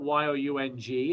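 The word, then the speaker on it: Junge: el paso as well eric young has the greatest spelling of his last name it is not y-o-u-n-g it is j-u-n-g-e pronounced young he was actually in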